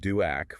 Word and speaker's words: DOAC: has a direct oral anti-coagulant pronounced duac for their atrial fibrillation and they come in needing a valve and the conversations that follow are just critical.